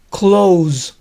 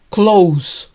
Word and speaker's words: close: es esta palabra que cuando funciona como verbo y significa cerrar se pronuncia close close con un sonido de zeta pero cuando significa cerca es close close con sonido s